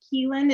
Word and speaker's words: Caoilfhoinn: need to change that dialogue great um duchess keelan and am i pronouncing that right you got it excellent all